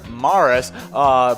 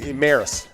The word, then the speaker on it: Maris: But next celebrity birthday, born on the same day, same year, 1934, Rogers Morris, baseball player. Is that the right way of pronouncing his name? Maris. Maris.